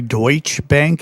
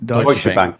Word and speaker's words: Deutsche Bank: interesting is uh and I don't know if I'm pronouncing the name of the bank correctly Deutsch Bank is Deutsch Deutsche Bank.